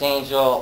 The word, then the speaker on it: Angell: Pronounced Angell, Old English spelling. Two L's.